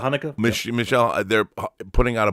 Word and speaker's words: Haneke: Umbrella is putting out I can't pronounce his last name, Michael Haneke. Is that Haneke? Yeah, Michael Haneke.